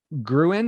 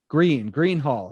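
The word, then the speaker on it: Gruene: You also have Billy Bob's Texas and Gruen. Is that how you say it? Gruen Hall? Green Hall.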